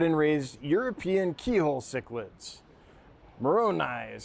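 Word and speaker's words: maronii: Moroni is how you say the species name.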